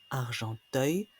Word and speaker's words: Argenteuil: De plus, la sonorité Ialo est restée et se retrouve dans beaucoup de noms de lieux sous la forme œil. Ialo, œil. Chasseneuil, Verneuil, Argenteuil, Charneuil, Vineuil, etc.